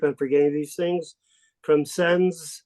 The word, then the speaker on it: Sens: From Sens, S-E-N-S, how do you pronounce that? Sens?